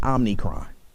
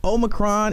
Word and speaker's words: omicron: i don't know why people keep calling it omnicron i mean you know people don't people make mistakes i keep one to call it omarion so i can understand people mispronouncing but omnicron but this omicron is spreading like wildfire